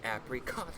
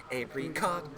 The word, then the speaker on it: Apricot: cuz you know the the emphasis would be on the first syllable apricot right but using apricot stone because it always bothered me yeah she was always saying apricot Joe those things like